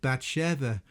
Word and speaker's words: Bathshua: In the case of Batsha it is my opinion that this name should be read Bva. The vav being pronounced as a V rather than a U.